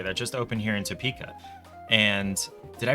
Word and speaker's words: Topeka: uh Cat Cafe that just opened here in Topeka and did I pronounce that Topeka or tapeka cuz locals pronounce it t uh and I have a